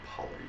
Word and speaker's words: Pali: well, actually we say Pali. It's Pali is the correct pronunciation. the long A is not an A sound, it's a extended sound.